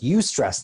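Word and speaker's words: eustress: a difference there's two types of stressors e-u-s-t-r-e-s-s you stress the first definition is stress that is healthful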